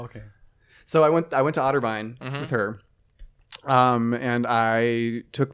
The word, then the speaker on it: Otterbein: Otterbein?